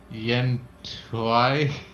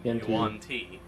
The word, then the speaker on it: Yuan-ti: That one race that I can never pronounce. Yen Tuai? You mean Yuan-Ti.